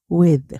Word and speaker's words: with: 그래서 with 드인데 윈니 아레니 사이 혀를 살짝 물고 with with 하셔야 돼요.